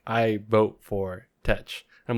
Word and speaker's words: Tetch: Because like Blackbeard, because they called him like Tej, or I forget how you say it. Tetch.